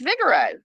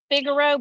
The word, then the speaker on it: Figaro: where you where you want to go it's Vigoro of course and how are you spelling that because you're saying Vigoro but it's figuro but it's pronounced f i g a r